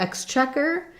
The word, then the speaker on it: Exchequer: And then for Exchequer, again, we said second syllable stress. The first syllable is an eh and a k sound, X. And then check is just like the word check.